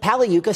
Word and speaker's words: Pagliuca: are joined by Steve Pavley yuca pala yuca silent G get that everyone in